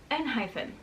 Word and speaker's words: Enhypen: a dash after it, which for me is confirmation that it is pronounced Enhypen.